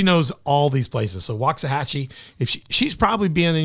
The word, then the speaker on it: Waxahachie: uh how do you say that Waxahachie Waxahachie Waxahachie and I know Dr Hannah you're more